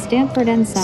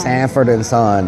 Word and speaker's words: Sanford and Son: Glass H0 says Stanford and Son. Sanford and Son. That's what it is.